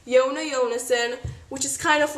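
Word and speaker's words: Jonas Jonasson: window and disappeared but Jonah Jonah said I'm just supposed to pronounce it yona yona s'en which is kind of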